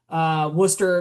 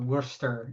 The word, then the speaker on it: Worcester: For a kid being from Worcester County, it's not Worcester. It's Worcester County. Worcester. All Oh, right. sorry. The Floridian in me, What's that? I just see things and I just pronounce them as they are. I didn't Okay. say Okay. Worcester. Not R.